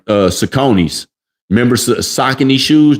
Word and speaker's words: Saucony: when you said like Saucony's. Remember Saucony shoes? They're called Saucony's, but where we from, we call them Saucony's. All right, you got some Saucony's? You got them new Saucony's?